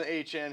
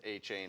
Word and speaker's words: Achane: Devon Achane, who said, by the way, two media interviews, he does not want his name to be pronounced A-Chain. It is actually pronounced A-Chan, so apparently.